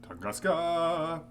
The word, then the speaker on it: Tunguska: My guess is that whatever they are doing in Barakin has its root in Tunguska. Or as the chat said I should pronounce it, Tunguska!